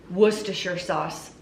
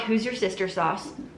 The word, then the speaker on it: Worcestershire: Did you know Worcestershire sauce? And that is how you say it. I had people coach me on that. It's not who's your sister sauce or S sauce or W sauce, Worcestershire sauce.